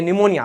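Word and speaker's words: pneumonia: हां ये निमोनिया अब जबरदस्ती उसमें पी साइलेंट करो। निमोनिया ना पी निमोनिया पी लगाना पड़ेगा जबरदस्ती साइलेंट करने के लिए।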